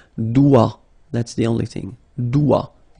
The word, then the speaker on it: doigt: Okay, so don't be frightened by this G because basically you don't pronounce it and then the final T you don't pronounce it. So the only thing you get to pronounce is this combination of three letters, sorry, here. D, O, I, okay? O, I, it's wa and then D, doigt.